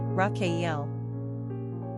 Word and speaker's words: Raquel: Spanish number of syllables two ranking popularity 690 pronunciation raakel simple meaning you characteristics of Rael uplifting truth